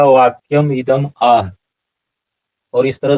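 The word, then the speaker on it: वाक्यमिदमाह: यहाँ वाक्यम इदम माह, वाक्यम इदम माह ऐसा उच्चारण नहीं होगा। उच्चारण क्या होगा? वाक्यम इदम आह।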